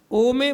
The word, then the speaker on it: ओम: अ हृदय तक पहुंचतेपहुंचते आपको बोलना है ओ कंठ तक आते-आते बोलना है ओ और मुख से निकालते समय बोलता है म। ठीक है? जब आएगा ओम का शुद्ध उच्चारण।